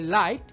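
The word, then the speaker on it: light: ঠিক একইভাবে লাইট এবং নাইট আমাদের আইজিএইচ প্যাটার্ন ফলো করছে, তাই আমাদের জিএইচ সাইলেন্ট হয়ে রয়েছে।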